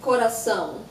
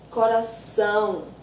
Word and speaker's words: coração: Yeah, so the first word I would like to talk about is coração.